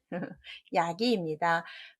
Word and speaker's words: 야기: 이것도 쉽다고 생각하실 텐데 답은 야기입니다. 같은 약자 들어있어서 약자로 많이 읽으실 텐데 답은 야기이고요.